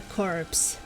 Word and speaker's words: corpse: hardcore you know or dead body is a corpse p is pronounced yeah that makes sense